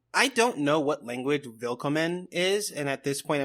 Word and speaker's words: Willkommen: Because it's spelled with a W, but pronounced like a V. That's how you know it's German. Also, Rocky, Willkommen, bienvenue, welcome, is the